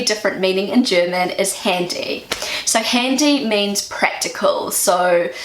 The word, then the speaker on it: Handy: But in German, the word handy is pronounced a little bit different. This is how Google pronounces it. Handy.